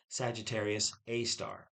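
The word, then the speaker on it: Sagittarius A*: The telescope detected our galactic black hole back in 2017, and it's been named Sagittarius A star, A asterisk, but it's pronounced Sagittarius A star.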